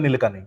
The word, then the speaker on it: Nilekani: This is from Nandan how do I say his name? Nandan Nilekani. Nilekani. Okay, I've been saying it correct. I've heard some people say Nilekani or something. The little changes, but yeah, I mean, more or less you're right.